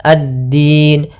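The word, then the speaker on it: الدين: Karena dia waqaf maka kita rubah menjadi sukun. addin.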